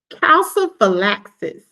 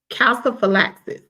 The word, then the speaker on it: calciphylaxis: Calciphylaxis. Let me see. Calciphylaxis. That's how you pronounce the term.